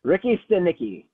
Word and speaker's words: Ricky Stanicky: Ricky Stanicky.